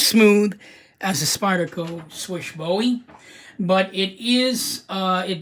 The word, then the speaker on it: Slysz: it's not as smooth as a spider go swish bowie but it is it does have really